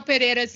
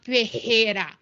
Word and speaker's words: Pereira: because michelle pereira's name it's like a hard r it's not pejera you might be confusing it with which is actually my last name but it's pronounced different because fajita has two hours and pejita has one r sorry had to get